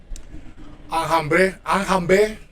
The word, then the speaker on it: enjamber: We cut the r and we pronounce the e in the infinitive. Okay, in the infinitive. As you can see, the verbs are not being conjugated. So this is the infinitive sound.